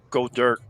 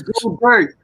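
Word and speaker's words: Goedert: Your name's Go Dirt. Go with Go Dirt. Because it rhymes with Joe Dirt.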